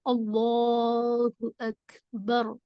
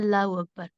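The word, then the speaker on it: الله أكبر: और प्रॉब्लम हो सकती है रूल्स में, मतलब अल्लाहु अकबर, ये इसका करेक्ट प्रोनाउंसिएशन है। हम लोग पढ़ते हैं अल्लाहु अकबर, وہ بالکل بھی مناسب نہیں ہے۔ چلیے ہم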